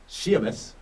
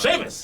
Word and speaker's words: Sheamus: prediction time Edge mhm shus come on say his name right Sheamus Sheamus we'll challenge John Cena